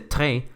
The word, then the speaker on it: tre: Pero si la R está antes de la vocal, adopta este sonido como gutural que me recuerda al francés y al alemán, como en el número 3 que se dice tre o la palabra reis que significa viajar.